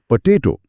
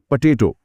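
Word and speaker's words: potato: इसी तरह पोटैटो, जोर ता पर है, तो पहला ओ और आखिरी ओ दोनों आलसी बन जाते हैं, पोटैटो।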